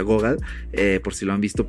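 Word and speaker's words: Gogol: igual leana ghoga se escribe google pero se pronuncia ghoga por si lo han visto por allí leí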